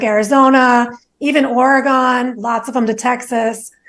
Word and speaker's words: Oregon: and they'd be like, don't say Oregon. I'd be like, say organ, like an organ in your body? That's how you say it?